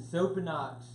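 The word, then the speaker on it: Xopenex: get down to the soap and knocks the Z the X is pronounced with the Z okay this is the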